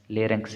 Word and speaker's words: larynx: तो यहाँ से आप दुरुस्त स्पेलिंग लिख लें, LARYNX, लेरेंक्स इसे बोलते हैं।